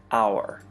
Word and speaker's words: hour: The H is silent in hour, so the first sound is actually O, hour.